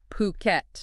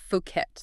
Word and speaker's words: Phuket: We're talking Phuket. Definitely Phuket, not Fuket. That's important. Exactly. Get the pronunciation right.